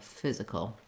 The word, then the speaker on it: physical: work on again is moving from the K to that dark L, kul, kul. The back of my tongue stays down after I drop from the K sound, and the front of the tongue lifts to the L position. There's just a little kind of a hidden schwa sound in there, kul, physical.